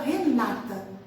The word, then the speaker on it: Renata: língua de caráter paroxítono, a gente vai colocar a tônica na penúltima sílaba, né? Então, a gente fala Renata, certo?